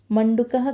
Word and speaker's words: मंडूकः: मंडूकः, यहाँ पर भी आप देखेंगे मंडूकः शब्द जब आप उच्चारण कर रहे हो तब उसका उच्चारण में अंत में उसका ध्वनि अ से ही अंत हो रहा है।